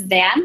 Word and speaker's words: Van: hello my name is van like a car the shoe or a button if you pronounced in Vietnamese I am from North